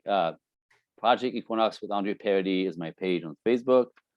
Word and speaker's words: Paradis: that's listening is a-n-d-r-e p-a-r-a-d-i-s it's it's it's pronounced Paradis but it's spelled like paradise like radical i always say i always say paradise without the e yeah exactly that's great